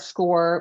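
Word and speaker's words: Scoir: So, you know, something that they can start score, which is spelled C S O I R.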